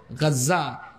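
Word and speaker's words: غزة: বর্তমান গাজ্জা যে অংশে আপনারা গাজ্জা বলেন আর কি আরবি উচ্চারণ হলো গাজ্জা গাজ্জার অংশে লিখে দিয়েছে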